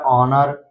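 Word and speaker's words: honor: इसी तरह है आवर, इसी तरह है ऑनर, फिर है इको, तो इन सभी वर्ड में आप देख सकते हैं वो से पहले यच आया है इसलिए यच साइलेंट है।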